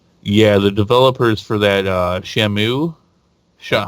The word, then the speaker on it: Shenmue: and yell and yeah the developers for that Shamu show how do you pronounce it Shenmue Shenmue man that's dirty yeah that is oh